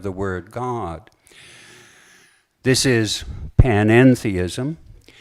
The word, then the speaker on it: panentheism: This is panentheism. Note the middle syllable en. It's a Greek preposition. And it distinguishes panentheism from pantheism.